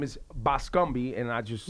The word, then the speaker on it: Bascombe: He is a married man, but his last name is Bascombe, and I just. No, it's Bascom. But it's spelled with a B-E on it. It's Bascombe. Bascombe.